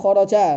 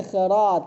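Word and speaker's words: إخراج: Janganlah kharaja. Bacanya salah ya. Li ikhraj. Akhraja yukhriju ikhrajan li ikhraji hurufil hijaiyati.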